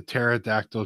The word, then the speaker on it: pterodactyl: can't you hear the pterodactyl go to the bathroom I have no idea he said because the P is silent honestly I lost it